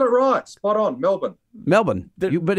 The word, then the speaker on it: Melbourne: Rock spot on Melbourne Melbourne but it's so the second syllable is kind of crushed against Melbourne see Simon you don't